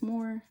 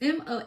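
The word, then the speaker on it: Mohs: mo mo mo it's m o s I believe it's the mo like the S is silent hardness scale tiger's eye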